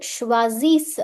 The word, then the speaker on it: choisissent: Il, elle choisissent. I'm only reading up till S. ENT remains silent.